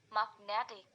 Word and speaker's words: magnetic: Magnet plus ik, magnetic. The stress move from the mag to net, magnetic.